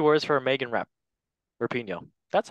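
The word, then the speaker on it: Rapinoe: one or two words for a Megan rap rapino that's how you say it lovely controversial Legend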